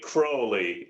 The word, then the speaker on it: Crowley: first of all, it's actually Crowley.